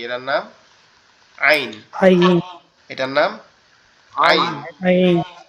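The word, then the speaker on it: عين: আইনটা হচ্ছে আমাদের এই কণ্ঠনালীর এই মাঝখান থেকে, অর্থাৎ এই যেখান থেকে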